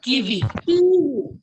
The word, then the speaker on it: kiwi: Kiwi. Kiwi. Yeah, it is it is the E sound, not kiwi. It is kiwi in French.